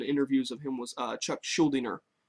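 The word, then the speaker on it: Chuck Schuldiner: of him was uh chuck schuldener that's how i heard him pronounce his name so forgive me if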